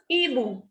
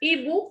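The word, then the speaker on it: hibou: Next is ibu. We will not pronounce this H. So this is ibu, means owl.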